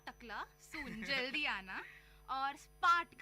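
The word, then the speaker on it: spät: Bald का मतलब है सून, नॉट टकला, सून जल्दी आना, और स्पार्ट का मतलब है लेट। स्पार्ट का मतलब है लेट।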